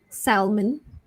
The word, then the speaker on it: salmon: Next, SALMON, silent L. So you might have thought it's salmon. So it's actually salmon. So silent L there, salmon.